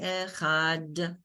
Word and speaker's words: Echad: When you say Echad, you pronounce the dal. Adonai Echad, that the one.